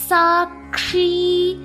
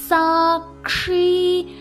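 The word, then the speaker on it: साक्षी: சாக்ஷி. சா இக்கு ஷி. சாக்ஷி.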